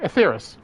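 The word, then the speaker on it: Etheirys: atheris to safety okay so I was pronouncing right atheris our time is come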